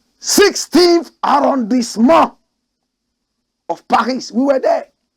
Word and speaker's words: arrondissement: We French people, we pronounce it the right way. 16th arrondissement of Paris.